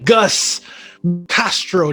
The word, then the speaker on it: Gus Castro: another brother from another mother here i'm looking gus castro did i get this product did i pronounce that correctly you got it you got